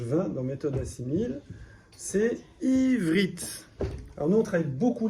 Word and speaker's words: Ivrit: Par exemple, si je lisais avec E, ça ferait Iverit. Et si je fais un E muet, ça fait Ivrit. Donc, j'entends que la consonne.